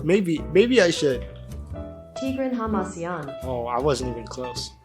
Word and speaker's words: Hamasyan: should I should I like learn how to pronounce this maybe maybe I should tigran Haman oh I wasn't even close tigan Haman tigan Haman okay so we're going to be